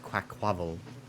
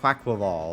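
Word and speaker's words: Quaquaval: think Quackquaval is pronounced Quackquavel. Quackquavel, or whatever. Quackquavel. It's Quackquaval. Quackquaval, like Carnival.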